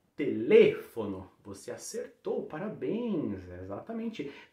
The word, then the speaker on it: teléfono: Fechou o E, não é teléfono também não, viu? Teléfono, fecha o E e a sílaba tônica está em outra posição se a gente comparar com o português, né?